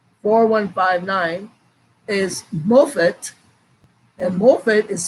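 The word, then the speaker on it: מופת: one five nine four one five nine is mofet and morphet is spelled m o p h e t h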